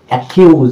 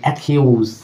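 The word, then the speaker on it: accuse: কি হচ্ছে বন্ধুরা এখানে একিউজ এখানে ডাবল সি কিন্তু ডাবল ক হচ্ছে না ডাবল ক হচ্ছে না কিন্তু না হয়ে কি হয়ে যাচ্ছে শুধু একটা ক সাউন্ড দিয়েছে দেখুন একিউজ একিউজ একিউজ মানে অভিযুক্ত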